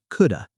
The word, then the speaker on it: could have: again quick pronunciation note in fast natural speech native speakers don't always say could have clearly it sounds like coulda could have been coulda been